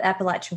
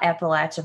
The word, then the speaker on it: Appalachia: Hot Topic right here you changed my mind about Appalachia versus Appalachia so I used to